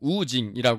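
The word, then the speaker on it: 吴京: 있습니다 뭐 둘 다예요 오경은 이제 우리나라 식대로 읽으면 오경인 거고 중국식 발음으로는 우징이 합니다 1974년 4월 3일 베이징에서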